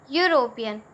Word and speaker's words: European: Now if we pronounce European, then it is starting with the sound U, that is a consonant.